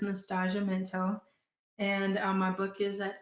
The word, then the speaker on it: Nastashia Minto: So it's Nastashia Minto. And my book is at Eldritch Books. It's like the Thai, but spelled with an E.